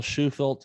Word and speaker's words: Shufelt: old podcast anyway of course this is bill schufeld is that my pronouncing that right yep now that oh man